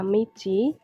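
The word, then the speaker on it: 道: adegan Jimmy Cik atau kalau berdiri sendiri dibacanya Michi artinya jalan lalu ada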